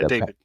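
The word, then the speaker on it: Patrick Bet-David: Bet David.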